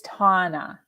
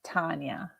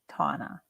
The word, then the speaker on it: Tana: mispronounced it again tana it's tauna not tanya tana i did the finnet